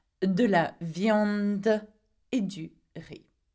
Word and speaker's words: riz: Though it has a Z at the end, we do not pronounce the Z at the end. We pronounce it R-I, so riz, okay?